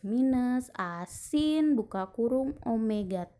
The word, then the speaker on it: omega: Omega itu yang W tapi bentuknya bukan W ya, itu adalah omega bacanya.